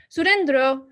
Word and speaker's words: Sourindra: Sourindra rhymes with Jack Sparrow. Sourindra, Jack Sparrow.